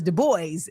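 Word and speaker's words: Du Bois: you know um yes in the French pronunciation is that but like people know him as de boys you know and so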